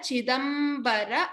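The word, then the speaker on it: चिदम्बर: Para chidambara. Again stress on the ba.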